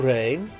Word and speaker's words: re: The syllable re sounds like a ray gun or a ray of sunshine piercing the clouds.